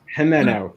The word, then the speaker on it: Jimeno: please welcome to the locker room authors william hemano and charles ricardi guys guys am i pronouncing your names right i hope uh yes yes jimeno good good good thank you both for being